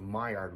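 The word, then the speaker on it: Maillard: things turn brown uh that's the my yard reaction it's commonly mispronounced as the mallard reaction malware reaction is entirely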